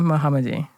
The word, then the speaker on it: Mohamedi: so I'm saying it correctly how do I pronounce your name Mesa Mohamed Misha muhamed okay nice well thank you for coming in